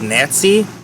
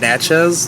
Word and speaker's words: Natchez: So now, and Nats, I keep pronouncing it as Nazi. It's called Natchez.